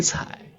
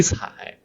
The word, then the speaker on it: 睬: The right part pronounces like 采, also 采.